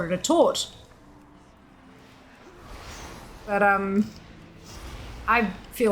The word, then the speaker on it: torte: T as in town, backwards C as in horse. So it's tort.